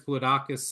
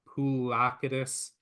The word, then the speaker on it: Poulakidis: And what you ultimately need to do, and look, they have a couple players, Poulidakis and, I always get his name wrong, Poulakidis, and who's the other kid?